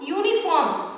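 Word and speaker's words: uniform: ओ यू, यू आपका vowels है, लेकिन इसका प्रोनाउंसिएशन देखिए, यहाँ पे मैंने ए लगाया है। क्यों लगाया है बता रही हूँ आपको। यूनिफॉर्म, यूनिफॉर्म आप जानते हैं तो यू आता है, ठीक?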